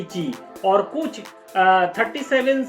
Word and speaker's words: Qi: तो एक है ची, इसका स्पेलिंग क्या है ना, QI, लेकिन इसको कहा जाता है कि ची।